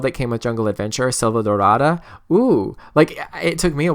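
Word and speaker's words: Selvadorada: for the world that came with jungle adventure Silva darada whoo it took me a while to say it properly but um it's it's really it's a really pretty name for a world like that Salvador ah da like said about da da da you know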